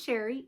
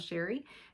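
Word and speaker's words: Chere: My name is Sherry, and that is spelled C-H-E-R-E. It is spelled a little fancy, but pronounced plain old Sherry.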